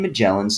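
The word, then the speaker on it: Magellan: Picking up with Ferdinand Mellin right where we left off. Two things um I want to point out. First, some teachers like to show that Ferdinand Mellin's name um rhymes with melon.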